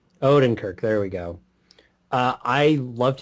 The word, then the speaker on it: Odenkirk: Odenkirk.